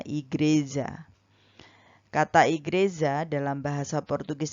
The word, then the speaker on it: igreja: dari sebuah kata dalam bahasa Portugis yaitu igreja atau bacanya igreja kata''yg Reza dalam bahasa